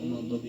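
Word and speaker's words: الْمَغْضُوبِ: Maghdubi ini karena sukun sebelumnya domah, maka dibacanya panjang berharakat.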